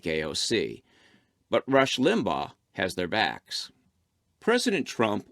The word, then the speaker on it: Limbaugh: look at her charge that Limbaugh is a virulent racist and yes college girl that's how it's pronounced this isn't new I've